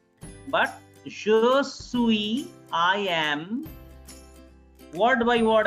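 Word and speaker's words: suis: clear yes so sure sui the last s is silent s-u-i-s sui josue professor professor don't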